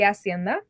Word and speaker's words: Hacienda: The H in Spanish is silent, so it's the Hacienda.